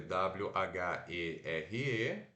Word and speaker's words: where: de onde tá então se escreve w h e r e mas se pronuncia assim ó w fazendo som de o curto é de ela Shui o r puxado né então o é Where were weer e a gente já